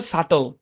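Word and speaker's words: subtle: লিখি না আমরা লিখছি বিটি থাকলে বি সাইলেন্ট অল্প কিছু শব্দে মানে এই শব্দ দিয়ে খুব বেশি একটা উদাহরণ দেখা যায় না এখানে আমরা তিনটা উদাহরণ দেখতে পাচ্ছি ডেট ডাউট এবং হচ্ছে সাটল ঠিক আছে সাটল ব্যাস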